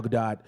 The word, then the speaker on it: Gadot: Jenkins an incredible actor in Galva doe gal gadot how did you say her last goddamn name